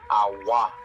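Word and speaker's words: agua: they call water what AWA right AWA well in Spanish we call water Aqua but when we have a g u a we always pronounce that like a w a AA a a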